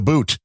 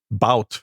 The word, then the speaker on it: Bout: Oh, Victor the Boot.